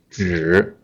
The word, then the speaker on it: 纸: You may notice my stressed syllable. I stress this 纸, right? Not 一样. I didn't stress 一样. I stress 纸.